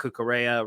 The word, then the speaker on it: Cucurella: Marc Cucurella, rhymes with Estrella, had an opportunity to pop into the game as well.